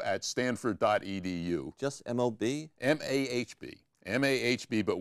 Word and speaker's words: MAHB: Google it, mob at stanford.edu. Just M-O-B? M-A-H-B. M-A-H-B, but we pronounce it mob because we like the idea of being mobsters.